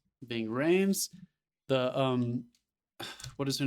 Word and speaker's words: Ving Rhames: Ving Rhames. Ving Rhames.